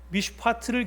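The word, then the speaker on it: מִשְׁפָּט: 여기 제가 히브리어 원어의 발음을 적어놨는데요, 미슈파트를 기대했는데 미스파흐가 웬 말이며 찌다카를 기대했는데 째아카가 웬 말이냐, 이렇게 지금 쓰고 있습니다.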